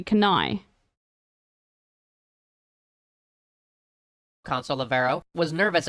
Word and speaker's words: Cannae: So it's Cannae, right? I'm saying it correctly, Cannae.